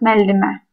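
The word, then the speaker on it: müəllimə: Пишется müellime, но в основном произносится как меллиме.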